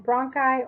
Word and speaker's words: bronchi: An I at the end of a word is pronounced I, as in bronchi or nuclei.